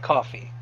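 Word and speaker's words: Ko-fi: be great fine coffee it's pronounced like a coffee it's like patreon except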